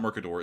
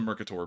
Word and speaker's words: Mercator: not a globe um the Mercator it's not Mercador it's the Mercator Projection but that's the reason